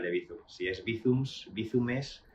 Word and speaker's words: Bizum: dice el plural de Bizum, si es Bizums, Bizumes, y ha dado para bastante. Pero, ¿cómo se pronuncia Bizum?